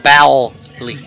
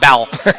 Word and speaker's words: Bowley: Just for pronunciation, it's Bowley. Bowley.